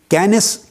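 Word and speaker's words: Kenneth: और साइंटिस्ट है professor कैनस coming कैनस coming कैनस के स्पेलिंग लिख ले के E double N ई टी H teach सा की आवा आवाज देता है से की तो कैनस कमिंग कमिंग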